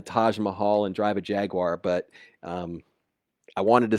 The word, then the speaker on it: Jaguar: We're not out here to to buy the Taj Mahal and drive a Jaguar, but I wanted to say that like the British say, Jaguar.